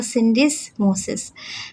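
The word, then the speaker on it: syndesmosis: इसका सही प्रोनाउंसिएशन होगा सिंडिसोसिस।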